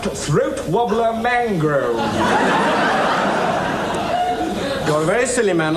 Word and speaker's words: Raymond Luxury Yacht: No, it's spelt Raymond Luxury Yacht, but it's pronounced Throat Wobbler Mangrove.